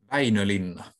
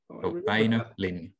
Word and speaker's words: Väinö Linna: How do you pronounce the author's name? Yeah. Väinö Linna. Väinö Linna.